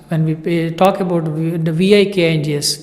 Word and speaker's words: Vikings: Usually, when it is in the English class, when we talk about the Vikings, the pronunciation is wrong. It's not Vikings, it's Vikings.